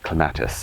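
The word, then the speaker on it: clematis: Claus garden and so this is Claus as the British say and um we have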